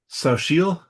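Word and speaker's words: Xochitl: How that's pronounced. Sashil.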